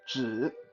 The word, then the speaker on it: 紫: Okay, so it's spelled JE, but it's not say 己, it's 紫. J.